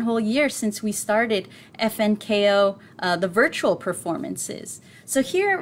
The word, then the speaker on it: FNKO: And also in the Zoom room, we have FNKO tonight. It's FNKO. No, it is not Funko. It is pronounced FNKO.